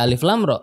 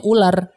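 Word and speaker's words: الر: Itu kan kita dari mana kita bisa tahu itu dibaca Alif Lam Ra? Iya. Kecuali kita dengar dari guru kita. Kalau orang nggak dengar dari guru, dia baca bukan Alif Lam Ra. Persis. Bacanya ular.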